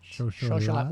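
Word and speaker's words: xocolatl: Xocholat, which is the Aztec pronunciation, xocho, of chocolate.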